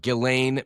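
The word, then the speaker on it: Ghislaine: subpoena I always screw up her name, but Gileain Maxwell is how you pronounce it.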